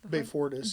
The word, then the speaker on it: Beyfortus: Beyfortus.